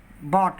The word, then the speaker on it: bought: और परंतु जब जीएच शब्द के बीच में होता है तो इसका उच्चारण नहीं होता है। जैसे ब्रॉट, BROUGHT, ब्रॉट, ब्रॉट, बाट, BOUGHT, बाट।